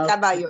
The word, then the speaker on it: Caraballo: to contact Crespo, but was Caraballo, or am I pronouncing that right? Or Caraballo? Yeah, you're pronouncing it right. Caraballo, yeah.